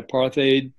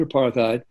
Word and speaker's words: apartheid: heard about this policy i wasn't sure how to pronounce apartheid apartheid apartheid no they said apartheid i said it that